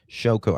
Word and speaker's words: Shôko: That's how we pronounce it. Shôko.